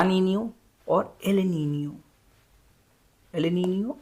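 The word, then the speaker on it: Niño: और यहाँ पे एल नीनो है या एल नीनियो, जिसको एक्चुअल में इसका प्रोनाउंसिएशन नीनियो होता है, क्योंकि यहाँ पे ऊपर देखिए एक ऐसे लगा हुआ है मार्क।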